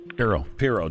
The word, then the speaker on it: Pirro: Pirro.